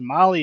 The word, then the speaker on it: Mahle: And to our podcast listeners, Molly is spelled Mahle.